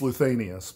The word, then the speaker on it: Luthanius: It's not, it's Luthanius, but most people cannot pronounce the name.